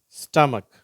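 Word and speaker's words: stomach: lunch beach much ஏக் ஸ்டமக் சரியா இது மட்டும் கொஞ்சம் உச்சரிப்பு மாறுது ஏக்கும் ஸ்டமக்கும் அந்த இக்குன்னு வந்திருக்கு மற்றது எல்லாம் இச் இச்ன்னு உச்சரிப்பு வருது ஓகேவா இந்த சிச் க்கு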